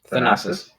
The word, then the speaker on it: Thanasis: Thanasis.